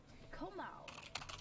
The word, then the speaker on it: Komao: But if I said it right way, yeah, it's Komao.